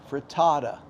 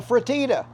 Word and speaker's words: frittata: gotten into my head the correct way to pronounce that because in that last video I called it a fratita frta fata tomato tomata we all know